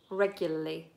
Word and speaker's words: regularly: economy than anything else do you pronounce the second are in regularly no regularly regularly regularly you have to get a tongue flapping regularly yes Eugene tanking spelt